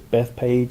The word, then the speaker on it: Bethphage: We talked a little bit yesterday about him being in this town of Bethphage. Often, we translate that into English as Bethpage.